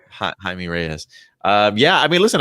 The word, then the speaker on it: Jaime Reyes: morales and uh uh jamie reyes no i mean that highly pronounced yeah okay yeah jaime reyes uh yeah i mean